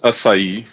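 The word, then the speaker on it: açaí: awesome i don't know now we pronounce brazilian pronounced as acai okay it's very very close you you you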